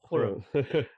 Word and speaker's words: Khurram: That is how you pronounce my name, Khurram.